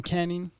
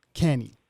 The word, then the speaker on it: Cannie: to make sure i pronounced your name properly john canning candy yes sir kenny john kenny everybody classic carpenter gypsy american